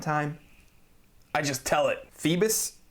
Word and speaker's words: Phoibos: Phoebus? Phoibos? If it's referring to mythology, I think it's pronounced Phoebus, although I'm sure 1,000 of you will correct me in the comment section, so I can't wait for those comments.